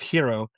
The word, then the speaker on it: gyro: It's pronounced hero, but I said gyro on the phone.